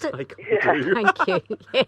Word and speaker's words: taekwondo: Well, we've got some medal chances in how do you pronounce it? Taekwondo.